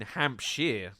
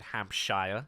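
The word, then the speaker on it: Hampshire: I went to university in hampshar. I wish we pronounced it hamshshire.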